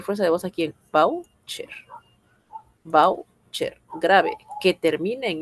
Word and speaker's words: voucher: No, aquí está el voucher. Voucher. Voucher es una palabra grave. Tiene la mayor fuerza de voz aquí en voucher.